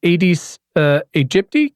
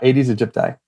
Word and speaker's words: Aedes aegypti: that you mentioned, and I'm going to definitely mispronounce its name. Aedes aegypti. Can you do a better job of that for me? Yeah, Aedes aegypti. Aedes aegypti.